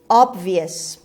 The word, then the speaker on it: obvious: obvious. خب استرس رو سیلاب اول هست. obvious. او رو داریم با صدای آ تلفظ میکنیم.